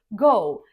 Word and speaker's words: Go: Most developers just say Go, same as the everyday verb. Ready, steady, go.